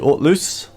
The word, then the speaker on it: Hauteluce: going to go to alt loose so I think the H is silent I did um I